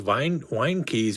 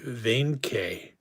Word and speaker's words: Weinke: whose name was actually, I think it would have been pronounced in German, Weinke. But when you look at it in English, it looks like it would be pronounced wine key.